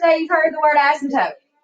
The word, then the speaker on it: asymptote: When you actually put the emphasis on the first 2 letters, it's an asymptote. Oh, asymptote.